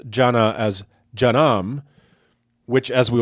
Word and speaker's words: Jannah: So also take care not to mispronounce Jannah as Jannam, which, as we will explore in a future segment, is the Islamic word for hell.